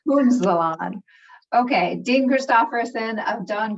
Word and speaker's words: Punzalan: It's Punzalan. Punzalan.